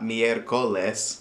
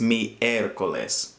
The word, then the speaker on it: miércoles: Don't forget that accent over the e means that that's where the stress falls. So it's not miércoles or miércoles, it's miércoles.